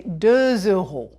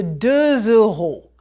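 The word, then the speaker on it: deux euros: You just heard me say 2 euros. Voilà une pièce de 2 euros.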